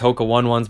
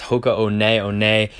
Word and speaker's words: Hoka One One: thrifts and flips we used to call these Hoka one ones but it's actually pronounced ho co-owned aione make sure the tread is good these are